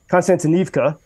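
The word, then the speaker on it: Kostiantynivka: city uh called and I'm gonna mispronounce the name a little bit uh constantive constantinevka I said it correctly uh 15 miles and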